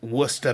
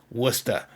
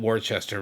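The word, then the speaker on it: Worcester: You can see, of course, it's spelled Warchester, right? But anyone in the know. And of course up there in Massachusetts where I lived it was Wora because that's how we say things up there you know.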